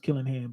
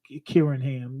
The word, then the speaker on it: Killingham: Karen okay uh yeah they don't have the L in um in uh Japanese so it's not pronounced killingham but kinam you're absolutely right okay uh